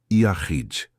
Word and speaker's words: Yakhid: A palavra em hebraico é Yakhid. Pronuncia-se Yahid.